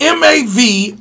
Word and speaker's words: Mavrides: And that's why you said, let's go to this next story about this gentleman named William Varides. It's pronounced Mavrides.